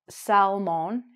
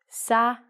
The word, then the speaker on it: salmon: This is a crazy one as well because we have a silent L, and as our lesson will follow, we don't say mon, we say min. So this word, it's a fish, and the inside of the fish is orange or pink, is called not salmon, it's actually called sa-min. So it looks like salmon, but it's sa-min.